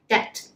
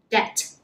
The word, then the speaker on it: debt: 人都会读错，读成 debt 嘅。咁其实个 B 字咧喺中间系唔发音啦，所以系读 debt， debt。